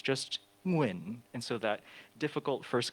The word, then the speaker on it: Nguyen: So my last name is Nguyen, but professionally I still go by Nguyen. And everyone can make those sounds. It's the same sounds in the word penguin.